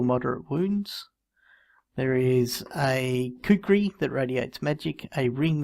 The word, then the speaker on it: kukri: I don't know how to spell it. K-U-K-R-I.